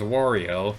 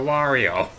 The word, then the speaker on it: Wario: Has never been verbalized as Warriio. He always says a warrior. Why do people say warrior? Where did that pronunciation come from?